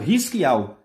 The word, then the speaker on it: Hisquial: Em Israel, seu nome é pronunciado Hisquial.